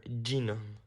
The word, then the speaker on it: genome: Is it pronounced genome or genome? It's pronounced genome.